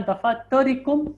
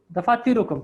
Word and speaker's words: دفاتركم: Aina dafatarikum ya ikhwanu. No. So it is Aina dafatirukum. Correct.